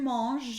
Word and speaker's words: manges: Tu manges un. Now because the S is silent, we do not put a liaison because it's just mange. It is pronounced the exact way whether there's an S or not.